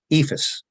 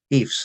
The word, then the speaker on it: EIFS: the surrounding states uh ephus or eifs as Some people prefer to pronounce it is in um